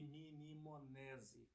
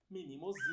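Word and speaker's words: Mnemosine: Ao invés de eu falar minimosine, eu falei minimonese. O certo é falar minimosine.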